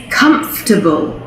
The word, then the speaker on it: comfortable: comfortable but really it's comfortable comfortable so it's not comfortable it's just comfortable okay so we actually lose a syllable there the same goes for